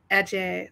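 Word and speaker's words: Adjei: But I think his last name is pronounced Ajay, like Nana Ajay.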